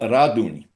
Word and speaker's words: Radun: we used to live, this town called Radun, that's how you pronounce it in Polish.